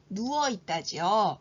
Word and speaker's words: 누워 있다: 됩니다 일어나다와 반대되는 말은 누워 있다지요 그래서 누워 있다 여기서는 발음이 된 소리 되기가 일어난다는 것을 기억하십시오 다시 한번 제가 두